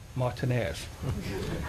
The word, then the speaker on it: Martinez: President Martinez, Martinez. I've lived in Las Vegas for 25 years. It's pronounced Martinez out there. Just as J-U-S-U-S is pronounced Jesus out there.